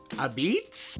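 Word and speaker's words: apizza: so apparently they pronounce pizza as a beets like like the veg a beet like the vegetable a beet today we're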